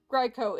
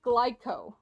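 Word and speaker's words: Glico: butts that's gross anyway it's not GCO it's glyco oh okay G here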